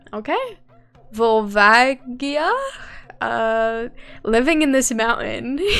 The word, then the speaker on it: Volvagia: is a weird ass name vol vagi uh volvagia okay so i said it right then because